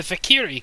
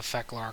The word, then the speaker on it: Fek'lhr: the Fakiri class. Well, Fecklar class. That's the proper name, I believe. Yeah, it is the Fecklar class.